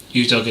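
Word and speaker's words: Udogie: Doggy.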